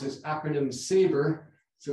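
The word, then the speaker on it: SABR: radiotherapy which is a real mouthful but we pronounce as acronym saver so it's much easier to say and saver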